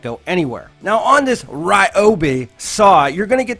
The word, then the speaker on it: Ryobi: I say Ryobi, Cop Tool says Ryobi. Cop Tool is wrong because it's pronounced Ryobi.